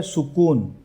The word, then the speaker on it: سکون: اس میں سین پر بھی پیش ہے اور کاف پر بھی پیش ہے. ٹھیک ہے. اگر آپ اس کو زبر کے ساتھ پڑھیں گے تو وہ اس کا جو تلفظ کی جو ادائیگی ہے وہ اس میں غلطی کاؤنٹ ہو جائے گی.